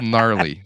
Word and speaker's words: gnarly: to spell it so he spelled it with a K instead of a silent G well it works y